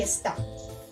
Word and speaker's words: está: la palabra esta y está está es del verbo estar una acentuación aguda en la última sílaba esta se encuentra